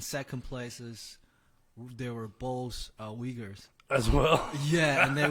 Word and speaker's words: Uyghur: It's Uyghur. Yeah. Uyghur. Yeah. I gotta really emphasize on the we.